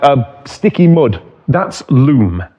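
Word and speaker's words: loam: That's loom. L O A M. Some parts of the world pronounce it lom.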